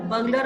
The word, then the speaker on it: burglar: बर्गलर word को आप note करेंगे, चोर को. चोर को कहते हैं बर्गलर. आर का उच्चारण कम होगा.